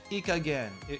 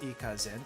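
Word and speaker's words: いい加減: Ikagen. Irresponsible. I think I hear that a lot, but the pronunciation didn't stick to my head. Way of speaking. Ikagen, not ikazen, ikagen. What's this?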